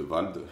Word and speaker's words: Vald: On est parti pour 30 minutes de Valdé, de Vald. Putain, il m'a tellement matrixé dans sa chanson à dire ouais Valdé que maintenant je l'appelle Valdé alors qu'apparemment ça se prononce Vald.